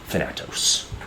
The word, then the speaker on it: Thanatos: at the inhabitants, as trailing behind you comes Thanatos. Thanatos? It's how you pronounce it, yeah. Oh, Thanatos.